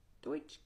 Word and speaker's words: Deutsche: can't pronounce it it's d-e-u-t-s-c-h-e so Deutsch because it's German Deutsche and I don't know